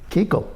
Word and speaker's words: Kuchel: Do you think that Tom Kuchel, is that how you pronounce it? Kuchel? Tom Kuchel? Keuchel. Keuchel? K-U-C-H-E-L? K-U-C-H-E-L. He's pronounced Keuchel?